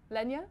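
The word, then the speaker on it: Legna: year your Italian restaurant, which has got two pronunciations. Lenya, is that correct? Lenya, yes. Yeah, okay.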